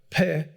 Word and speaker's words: Pe: the letter looks like P-E is the way they write it in English, and R-E-S-H. I'm pronouncing it Peh and Resh.